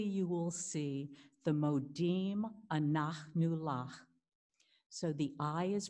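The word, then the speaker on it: אנחנו: The A's are like the A's in father, ah, anachnu lach. And if you can't get the h sound, that's fine. Just put in a K, anachnu lach.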